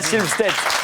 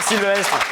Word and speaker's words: Sylvestre: Laurent Victoria Silvestre pardon Victoria comment Sylvestre Syvest Oui Sylvest Allez on valide c'est ça Victoria Silvstate pardon faut dire Sylvestre toute façon personne n'arrive à prononcer son nom donc c'est pas bien grave on continue.